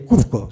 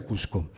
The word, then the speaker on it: Cusco: su país en Perú no se dice Cuco se dice cusco y desde muy niña